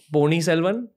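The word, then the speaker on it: Ponniyin Selvan: Secondly, Pony Selvan. Am I saying it right? Right. That's correct.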